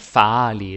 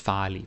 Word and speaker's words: farlig: Of course, it's not farlig, it's farlig, but it's pretty close.